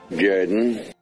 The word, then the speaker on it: Jordan: Though it's spelled Jordan, it's pronounced Jordan.